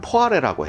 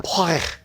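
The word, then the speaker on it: poiré: 사과로 만들면 시드르라고 하고 배로 만들면 포아레라고 해. 근데 이게 프랑스 발음 들어보면 포레 이래.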